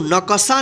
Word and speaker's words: नक्शा: इसको नक्शा नहीं पढ़ेंगे, क्या पढ़ेंगे, नक्शा। यानी जहाँ भी आधा अक्षर रहे वहाँ पे जल्दी उच्चारण कीजिएगा, यानी उस अक्षर के। ठीक है, दो दमे ओ